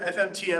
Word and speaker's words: fmt: I've heard FUMPed, I've heard FMT, I've heard format. It's FUMPed officially from the Go team.